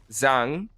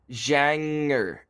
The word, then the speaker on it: Zhang: Just because it's well, basically we get like pronunciation sheets, and it's like the second half of garage.